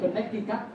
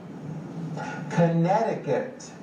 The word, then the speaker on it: Connecticut: Như vậy là chúng ta nhấn vào âm số 2 và xoa tất Connecticut, đấy, chứ không phải Connecticut, nghe?